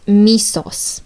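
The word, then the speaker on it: μῖσος: The symbols are pronounced misos, which means hatred, or misei, which means hate.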